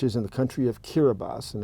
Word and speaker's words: Kiribati: an S so they they replaced every S sound with the TI but anyway if if